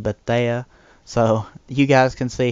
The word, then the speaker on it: Bethea: And that's Antoine Bethea instead of Bethea.